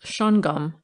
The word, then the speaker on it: Shawangunk: Survey of New York schang gang pronounced shongum according to the residents of the region Shang mountain is a